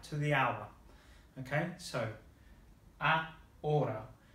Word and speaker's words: ahora: Now the R here, between these two vowels, if we go back to what we learned before, the pronunciation is a little bit different from English. If we think of that word again, the way that the Americans might say butter, so they say butter, butter, that r, r is the Spanish R.